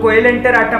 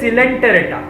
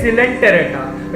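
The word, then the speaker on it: Coelenterata: नहीं पढ़ते इसको, जो लोग कोएलेंटेराटा पढ़ते हैं वो गलत पढ़ते हैं, इसे कहते हैं सिलेंटेरेटा, ठीक है, इसे कहते हैं सिलेंटेरेटा या फिर निडारिया नहीं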